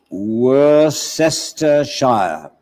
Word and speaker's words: Worcestershire: W-O-R-C-S-T-E-R-S-H-I-R-E, which should be spelled Worcestershire.